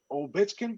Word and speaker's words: Ovechkin: I don't watch a lot of ice hockey, but I like Alec Ovechkin.